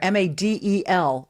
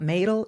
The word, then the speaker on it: Madel: He is, you can find him at Madel for Governor, Madel, just one D. But it rhymes with paddle, he told me. It's not Madel, it's not Middle, it's not Madel.